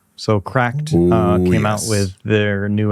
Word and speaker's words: CRKD: If you guys rewind, you're going to hear me gasp when he says Cracked, and I go, "Huh, that's how you say it?"